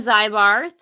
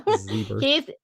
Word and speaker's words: Zybarth: And my friend, Zybarth, Right. well, Zebarth, I keep saying it wrong. Zebert.